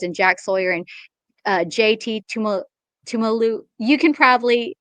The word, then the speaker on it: Tuimoloau: two top rushers in Jack Sawyer and JT Tumalu. You can probably pronounce that better. Tuimoloau.